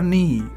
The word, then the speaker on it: knee: हर नी, उसके घुटने पर। नी, देखो नी में भी के साइलेंट है, जैसे हमने नौकर में देखा था।